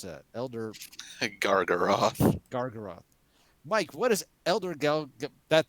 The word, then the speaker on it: Elder Gargaroth: Mike, how do you pronounce that? Elder Gargaroth.